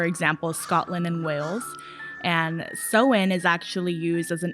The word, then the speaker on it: Samhain: sowen and it looks like it would be pronounced same but it's actually pronounced so in it's i've heard people pronounce samhain uh-huh yeah